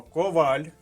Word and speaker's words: коваль: слова які написані капслоком перше слово Коваль наголос на другому складі Ми сьогодні писали його